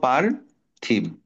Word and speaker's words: পার্থিব: পয়ে আকারে পা পকারে পাথ দেখো প এর পরে আমরা কি উচ্চারণ করবো? র রেপটা উচ্চারণ করব। রেফের উচ্চারণ র এর মত।